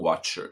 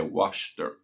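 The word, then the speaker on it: Wachter: né e o desenhista Na verdade ele chama David Washer tá não watcher eu falei errado tá é waster tá Ah desculpa aí pela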